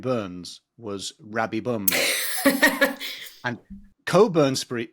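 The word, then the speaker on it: Cockburn: was Rabbi bum and Coburn Coburn Street is spelled c o c k b u r n it is it is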